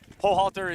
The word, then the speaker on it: Hochhalter: pronounce the Hochhalter name, I already told them Hochhalter is what he's been known by, but they, in Vancouver and Victoria, we've always said it one way and they say it's fine.